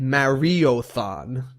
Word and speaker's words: Mariothon: Online Mariothon, not marathon.